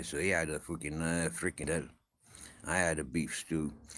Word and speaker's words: frikandel: Grizzles got given a Dutch sausage, a frikandel. Uh, I know that's how it's said, frikandel, but I'm not sure if that's the right pronunciation. You got to say it with a Dutch accent, yeah.